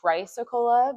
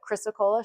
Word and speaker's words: chrysocolla: You want to try to pronounce this? Anybody? Yes. So we usually say chrysocolla, but chrysocolla, sure, that works too.